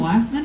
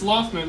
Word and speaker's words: Loftman: Is that your real last name, Laughman? It's Loftman, but yeah, it's spelled like that.